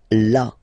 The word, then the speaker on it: là: So remember you've got this accent but well you don't pronounce it. Okay? So it's là.